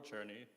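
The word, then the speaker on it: Czerny: Um, so speaking of Churnney, so I'm talking about Carl Churnney, uh, which is spelled Czer Ney.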